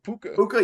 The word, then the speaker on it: Puka: Puka. Puka, yep.